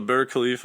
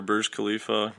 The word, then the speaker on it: Burj Khalifa: there oh it's the Burj Khalifa or Burj Kalifa depends how you different people pronounce it differently it's like the tallest